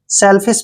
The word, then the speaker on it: selfish: एस का उच्चारण क्या करेंगे? से। और ई को हम ए की मात्रा पढ़ते हैं। एल को ले पढ़ेंगे और एफ का उच्चारण फे करेंगे और आई को ई की मात्रा लिखना है। SH को श लिखेंगे, श।